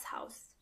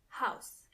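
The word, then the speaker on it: Haus: in German means D house D house when it comes to pronunciation it's the same as in English but you have to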